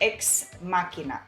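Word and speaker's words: Ex Machina: pronounce it so uh according to what i've heard and google helped me it should be x machina okay whatever you got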